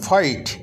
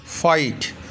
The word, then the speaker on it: fight: ঝগড়া করাকে বলে ফাইট, FIGHT। এই উচ্চারণটা তোমাদেরকে শেখাতে হবে, পরে আমি যদি একটা ভিডিও করতে পারি করব। GH অনেক সময় উচ্চারিত হয় না, বাক্যের মধ্যে আছে অথচ উচ্চারিত হয় না।